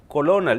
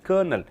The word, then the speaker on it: colonel: 58 COL means colonel, you don't pronounce as colonel, you say as colonel.